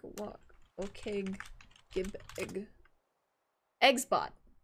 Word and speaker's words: Eggsbot: Eggs bot. OKBot, no, it does use OKG as, OKage, however you want to pronounce it, as a, trigger, but it's Eggsbot. So Eggsbot, okay, yeah, that doesn't surprise me.